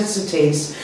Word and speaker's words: Sothys: So it's pronounced Sothys, and it's a French skincare brand, but over here is available in salons and spas.